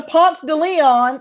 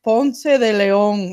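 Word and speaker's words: Ponce de León: go, well, yeah, and then you get to Ponce de Leon and you turn to left.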